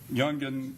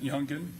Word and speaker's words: Youngan: Now, now the uh the rap video do it that was done by Jungan Ace, is that how he pronounces it? Youngan.